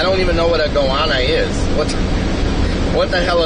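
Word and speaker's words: goanna: no TV says okay it's actually pronounced goana says they only smell bad after goana goana Goana.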